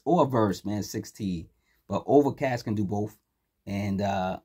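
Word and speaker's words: Ovrkast: in 2023 that album dropped next artist is overcast and it's spelled OV v r k a s t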